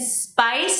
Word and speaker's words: spice: So you make the S a little longer, and then you won't accidentally add an S sound like you would in Spanish. I think- So pumpkin spice, and you want to connect Pumpkin it?